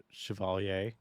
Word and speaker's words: Chevalier: I got links for Chevalier.